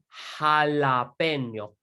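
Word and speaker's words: jalapeño: as well la isla the letter j is pronounced like an h so this is el jalapeno el hala peno you say it to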